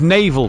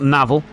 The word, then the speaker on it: Naval: went the way of Naval Gomez not navel thanks Mike for the